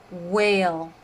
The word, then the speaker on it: whale: have w as in whale whale whale has a silent h in it and wh is a